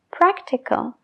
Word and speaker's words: practical: Practical. La segunda A, que viene antes de la L, sí que se pronuncia practical, practical.